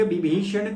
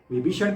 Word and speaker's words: विभीषण: गई सर लोका जाय विभीषण को सुख दिन सीता निरख परम पद लीन देखो ये अवधि भाषा है तो यहां पर व को ब के उच्चारण से किया गया है विभीषण को विभीषण सुंदरकांड के